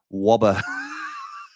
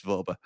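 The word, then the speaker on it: Wöber: but also Joe Rothwell wobber I know it's vber but wobber um like Elma fo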